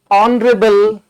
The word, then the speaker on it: honorable: and he is an honorable man right so H is silent here the sound of H is silent therefore on Rebel o